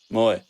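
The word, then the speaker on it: Moe: have Mo our cousin no it's not Mo Moy oh Moy I thought it was Mo no it's spelled the same as Mo but yeah yeah I see where that went wrong we have a lovely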